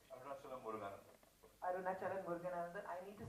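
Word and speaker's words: Muruganantham: Arunachalam Muruganandan.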